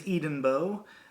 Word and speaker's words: Edenbo: Um, my last name is Edenbo. It's pronounced Eden like Garden of Eden, Bo is in Bo Diddley.